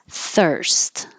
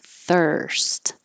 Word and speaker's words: thirst: gets pushed together maintenance thirst looks like er but sounds i mean looks like ir sounds like er thirst precinct sing it's like